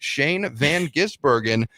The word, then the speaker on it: Shane van Gisbergen: Raceway a road course out in Portland Oregon Shane Van gisbergen yes other announcers out there that's how you pronounce it Shane Van giz Bergen picked up the win in the exfinity series